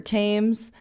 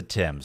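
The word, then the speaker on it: Thames: and emailed on about how we pronounce the river Tames and and a bunch of other things. It's the Tims, Kim.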